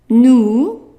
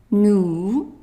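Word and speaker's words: nous: and then and then new and don't forget the S is silent new and then vu El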